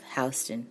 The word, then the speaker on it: Houston: So Soho refers to being south of Houston Street. And in New York, you do say Houston, even though it's spelled Houston.